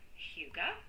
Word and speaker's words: hygge: Didn't know how you pronounced it, where it came from, or anything like that. But it is called hygge.